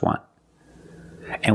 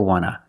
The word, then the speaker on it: want to: So we don't pronounce the T and we say wanna, wanna. I just want to eat. Want to or want to, you can pronounce it wanta or wanna. Both pronunciations are correct.